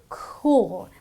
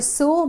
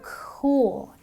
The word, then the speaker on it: cool: and therefore I say cool. By the way, the C is pronounced as a K, so it's not a sool but a cool.